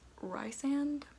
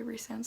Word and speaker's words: Rhysand: pronouncing it that way resound sounds so much better and like race sounds so much better than rice like stupid but i